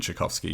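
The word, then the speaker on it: Chbosky: but hey say time it sounds weird for aronowski and chovsky it is aronowski and shovsky yes that's right um yes uh Noah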